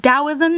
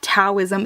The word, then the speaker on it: Taoism: of Taoism through Winnie the Pooh and it's pronounced Taoism not Taoism it's doubt as in a deep even though